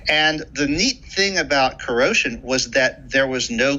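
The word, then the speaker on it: kuro5hin: for a website called corrosion spelled k-u-r-o digit 5 h-i-n meant to be pronounced like the word corrosion because the site's founder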